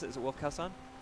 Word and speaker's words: Wolfkaosaun: How do you pronounce it? Is it Wolfkaosaun? Wolfkaosaun.